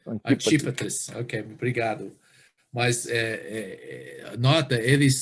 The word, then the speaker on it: Antipatris: Como é que você pronuncia? Antipatris? Isso. Ok. Antípatris.